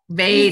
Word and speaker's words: Vedic: Vedic.